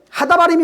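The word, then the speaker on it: הדברים: 배우는 내용이 쓰여져 있어요 그래서 그 신명기를 하다 발음이라 그래요 하 이게 하다 바림이 뭐냐면 그 말씀들 이런 뜻이에요 응 신명기는 하다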